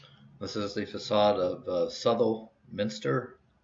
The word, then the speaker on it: Southwell: is the facade of sutherl minster it's spelled southwell but it's pronounced subtle uh from uh we'll